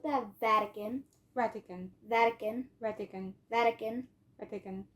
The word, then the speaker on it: Vatican: ran pretend all right you're almost ignoring the T it just sounds like an like you're probably thinking of Vatican like something it's it almost sounds like that Vatican Vatican Vatican Vatican Vatican